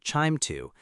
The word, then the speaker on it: QIIME 2: We often use QIIME 2, usually pronounced chime 2, to carry out this analysis.